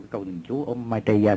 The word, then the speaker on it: Maitreya: Maitreya.